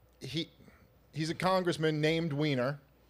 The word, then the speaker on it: Weiner: City and um he he's a congressman named weiner it's not Weiner and he uh nope unfortunately it's pronounced Weiner and he accidentally uh tweeted a